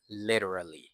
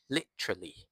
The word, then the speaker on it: literally: อัน ออก เสียง ก่อน คำ คำ นี้ ออก เสียง ว่า literally literally ช้า ๆ นะ literally literally literally literally เป็น แบบ American English นะ ครับ ถ้า เป็น แบบ British English เต ไม่ ค่อย แน่ ใจ เท่า ไหร่ แต่ คิด ว่า น่า จะ อ่าน ออก เสียง ประมาณ ว่า literally literally เป็น 3 พยางค์ แทน literally ก่อน อื่น เลย